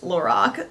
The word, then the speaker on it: Lorac: product from Lorac and yes it is pronounced Lorac sorry y'all um it is